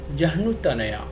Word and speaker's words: जह्नुतनया: It is ja, ha, halant and na. So its pronunciation will be Jahnutanaya.